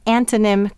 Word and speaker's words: antonym: of the syllable and what do we hear when we say antonym quickly we hear the schwa sound that's because the accent is on an antonín and this is an unaccented syllable but will exaggerate that